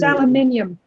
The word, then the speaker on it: aluminium: It's pronounced aluminium. There's an I.